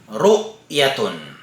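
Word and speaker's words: رؤية: So, halimbawa ng hamzatul qat'i na nakalagay sa itaas po ng letrang waw, ru'yatun. Ru'yatun. So, pinutol po natin ang pagbigkas sa kanya. Hindi tayo dumirekta sa letrang ya.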